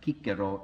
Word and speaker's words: Cicero: or the arger publicus our pronunciations of latin by the way is heavily compromised by english i could probably satisfy some latin purists here if i talked about kikiro instead of cicero and you'll use kaiser